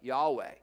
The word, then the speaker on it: Yahweh: to tran uh just how you want to pronounce it jehovah yahweh that's the lord now if you see it